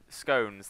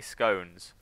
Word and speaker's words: scone: yeah yeah yeah yeah people say stones and people say scone and I I say scones because I think of like it's spelled like bone or yeah phone sort of thing but I think